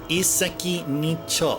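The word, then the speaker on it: 一石二鳥: So it's like e with a stop, and seki is stone. Ni is 2. And cho is how you pronounce bird there. But that bird can also be pronounced as tori, as in yakitori. But in another, I think the cho is one of 2 pronunciations of that 4th character.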